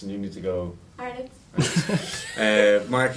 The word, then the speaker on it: Arnott: certain words such as arnots. Or not. Actually, no, I need to say arnots and you need to go. Arnott. Mark, you would pronounce it as arnots. It's Arnott.